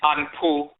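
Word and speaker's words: Anpu: other related jackal vinity anpo that they mispronounce Anubis dealing with inbombing dealing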